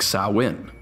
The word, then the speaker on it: Samhain: ancient Celtic Festival that spelled like Samhain but pronounced like saw in the Celts celebrated the festival on November 1st to signify the coming of the new year soin was the end of